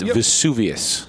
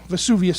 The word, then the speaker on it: Vesuvius: And excuse me, Dan, it's Vesuvius. Vesuvius? There you go. Thank you. Vesuvius.